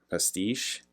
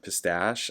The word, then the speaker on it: pastiche: Pastiche? How do you say that word? More of the same dull pistachio. I'm just kidding. Pistache? I thought it's pistache, but it's pastiche from Queen, who he